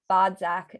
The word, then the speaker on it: Bodzak: I am your host, Aliza Kelly, and today I am sitting with Bodzak. Did I pronounce it right?